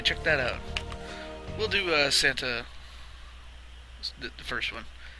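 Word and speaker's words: Santa Lucia: You'll start off in San Lucia, or is that how you pronounce that? Santa, not San.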